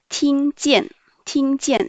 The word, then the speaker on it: 听见: Ensuite, le verbe 听见,听见. ING prononce yin. Le T prononce tre, donc tre, yin, ting, ting. Jian, I-A-N, yen, avec le quatrième ton, donc yen. Le J prononce ji, ji, yen, jian. Ting, jian, ting, jian, ça veut dire entendre.